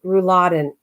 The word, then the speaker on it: rouladen: and Chef knows about it too it's called rouladen r-u-l-a-d-e-n rouladen I almost made it again with